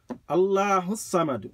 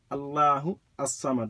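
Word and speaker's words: الله الصمد: Allahu Samad. If you join them, the alif is silent. Allahu Samad. But if you separate them, Allahu As-Samad. Allahu, Allah, As-Samad.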